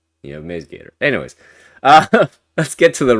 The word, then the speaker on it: MaizeGator: How do you pronounce it? Is it Maze or Mize? Mize, Maze, Mize? Maze. Maze, yeah, so I was right. Maze Gator. So it's just like a silent I here, like a maze.